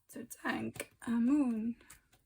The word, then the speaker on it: Tutankhamun: To thank a moon. Apparently that's how you pronounce it.